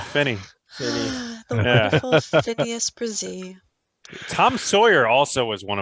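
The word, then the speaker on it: Bresee: Phineas Breeze. You didn't even pronounce his name right. Oh. Phineas Brazee.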